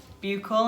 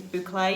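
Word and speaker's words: bouclé: I got told off the other day for saying it wrong because I'd call it buccal and people I think it's boucle, you know, the teddy bear fabric.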